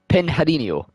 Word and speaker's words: Pinheirinho: 9 at the left-hander, I think I can say this one, it's Pinheirinho.